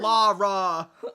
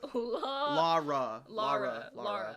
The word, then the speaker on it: Lara: It's pronounced Lar. It is pronounced Lara. Lara. So I was right.